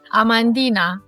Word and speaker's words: Amandina: And I think you were telling me something about the one which is how do you pronounce it? Amandina.